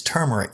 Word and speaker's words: turmeric: again she said turmeric i said spell it she said t-u-m-e-r-i-c i said not in this reality it's turmeric now with an r she said get lost